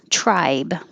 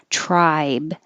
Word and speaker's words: tribe: thing slightly rounded should tribe i spelled it like try with a b that's how it sounds try and it's an i vowel so your tongue has to rise tribe find your tribe customer